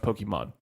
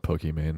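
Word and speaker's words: Pokimane: pokey bein well well her name is actually pronounced Pokemon because her real name is Iman I'm still gonna go with pokey man yeah a lot of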